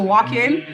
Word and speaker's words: Walk-In: Right here, I walk in. I'm with my boy right here. He came to get some drip. If you want to get some drip in Montreal, come to walk in.